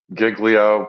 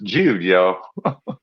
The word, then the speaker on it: Giglio: to say it Michael I think most people say Giglio but of course you know if you're Italian is jio Gio Gio Gio versus